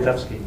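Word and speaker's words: Wildavsky: Witkowski.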